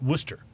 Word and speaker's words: Worcester: Like there's a town outside of Boston very you know, influential popular town uh called Well, the way it's spelled is Worcester, but you pronounce it Wooster.